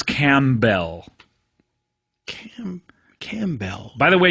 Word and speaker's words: Campbell: guest on this episode is it not Camp Bell it's written like Camp Town ladies right but a bell instead of town ladies right yeah that's how I remember how to spell it for sure right but it's cam Bell cam camell by the